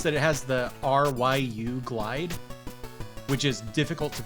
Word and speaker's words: Ryu: They, there's the main character of Street Fighter is Ryu. That's how his name is pronounced.